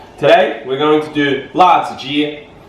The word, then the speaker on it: 辣子: Today we're going to do la zi. That's how you say it in Chinese.